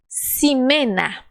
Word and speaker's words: Ximena: Ximena. Ximena. Ah, viu? Me faltou o conhecimento de que o X no início das palavras tem som de S.